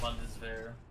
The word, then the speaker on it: Bundeswehr: It's Bundeswehr. Alright. Yeah, it's. The W is silent, pretty much.